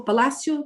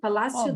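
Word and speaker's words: Palácio: the the place the landmark how do you pronounce bosa palace is that right oh palacio palacio the blessing change the change yes that's right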